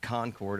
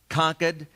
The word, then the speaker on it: Concord: even say it wrong it's not concord i don't say it right how do you say it conquered conquered new hampshire and uh i i